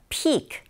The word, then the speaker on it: peak: 줍다라는 피크와 이 정상 피크는 차이점이 있다면 철자도 다르지만 네 길이가 좀 길어요. Peak, 정상이 더 길게 발음된다라는 거 잘 알아주세요.